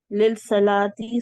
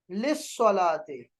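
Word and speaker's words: للصلاة: लिल सलाती सुम्मा गलत गलत, अभी ऊपर ठीक करवाया है, फिस सबा है, स्वाद से पहले लाम आ जाए साइलेंट है, लिस सलाते।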